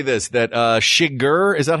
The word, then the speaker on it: Chigurh: I'll just say this, that Shiger, is that how you say his name? Anton Chigurh, yeah.